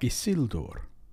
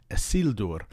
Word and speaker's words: Isildur: And then we have words like Isildur. Because of the L in the second to last syllable, sil, that's considered a heavy syllable, and so it takes the stress. Isildur, not Isildur.